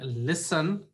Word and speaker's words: listen: plus consonant sound but unlike like prefer where we have the stress on the second level in listen we have this we have the stress on first level listen l i s